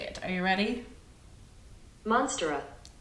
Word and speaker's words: Monstera: Monstera. Monstera.